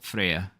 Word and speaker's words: Freya: baby her name is Freya Freya Freya for the easy people if you're Norwegian it's pronounced Freya f-r-e-y-a like the Norse